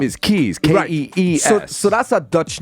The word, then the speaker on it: Kees: Kees is a very common name in Holland. The proper Dutch pronunciation, Kees.